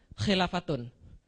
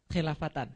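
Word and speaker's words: خلافةٌ: Kenapa dibaca khilafatun? Karena isim kana. Oke, setelah kana pasti bacanya domah. Oke, takunu kana. Setelah kana bacanya domah atau rofa. Summa takunu khilafatun. Betul, alamin haji nubuah. Lihat paragraf yang terakhir, summa takunu khilafatan. Kenapa khilafatan? Salah berarti. Kalau setelah kana harusnya rofa.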